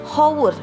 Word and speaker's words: hour: Tapi kita ingat saat kita mengucapkannya, bunyi yang keluarnya adalah huruf A. Karena kita membacanya bukan an hour, tapi dibacanya adalah an hour. Oke? Jadi di sini harus dipahami ya, yang dipakai adalah suara, bukan hanya bentuknya.